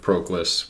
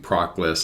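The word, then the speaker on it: Proclus: yeah again reminded of proclass where and i realize i'm mispronouncing that it's supposed to be propless i've always said proclass i'll continue to say proclass um but the uh the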